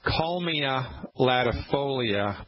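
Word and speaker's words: Kalmia latifolia: then i'll spell it it's called calmina latifolia that's k a l m like mary ia k a m latifolia l-a-t-i-f-o-l-i-a i believe something like that uh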